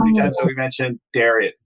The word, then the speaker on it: Darius: How many times have we mentioned Darius? He says Darius. I'm used to saying Darius. Yeah, right. Darius. We'll use the Persian native pronunciation.